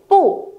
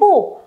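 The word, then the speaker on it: 不: Pu này là thanh 4, đúng rồi, đọc dứt khoát lên cho cô nhé. Không phải là pu mà là gì? Pu. Pu, đúng rồi. Pu này mang thanh 4. Nhưng khi mà đằng sau pu cũng là một thanh 4, được chưa nhở? Đằng sau pu cũng là một thanh 4 thì pu phải được đọc thành pu nhá.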